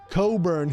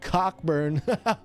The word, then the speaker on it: Cockburn: It's actually Coburn. Yuck, yuck, yuck. Not Cockburn. Welcome to the station. One guy was actually so nice. He was like, hey, listen, I know how it's spelled, but it's Coburn. It's not it's not Cockburn.